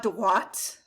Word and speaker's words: droit: There's no E on the end of that one, and it's droit.